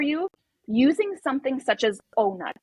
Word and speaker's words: Ohnut: Another thing is, if depth of penetration is painful for you, using something such as O-Nut. It's OHNUT. N-U-T, literally how it's spelled.